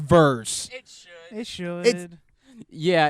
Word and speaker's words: Vers: but they pronounce it veers it's really weird that would be like if my name was tener that that that's not how that works V RS is verse those cre man just